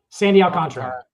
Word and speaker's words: Sandy Alcantara: Sandy Alcantara.